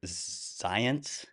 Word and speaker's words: Zajonc: I'm so happy today to have Taylor Zients.